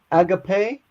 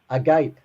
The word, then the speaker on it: agape: Agape is love.